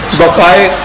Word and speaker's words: Bucaille: یہ ڈاکٹر ہے، یہ فرینچ نیم ہے، شاید اس کے تلفظ ایسا صحیح نہ ہو. مورس بقائے اس کو کہتے ہیں کہ یوں پڑھنا چاہیے، اگرچہ وہ MAURICE ہے اور وہ اگلا ہے BUCAILLE.